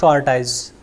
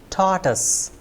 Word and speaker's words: tortoise: i c that is tortoise so it's not torse my dear friends it is taus T T us tus yes next word is